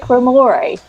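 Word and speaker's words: Ramoray: Drake Ramore. Not Ramaray.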